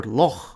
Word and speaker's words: loch: comme dans le mot “loch”, qui signifie “lac”, en anglais irlandais et écossais. Mais dans mon idiolecte ça se prononce avec une occlusive vélaire sourde [k].